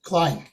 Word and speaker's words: Klein: Klein? Klein, not White. Klein.